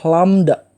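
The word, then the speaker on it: lambda: atau kita terus disini dia dibacanya adalah lamda nah itu jadi panjang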